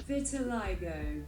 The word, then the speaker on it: vitiligo: Google Translate says vitiligo.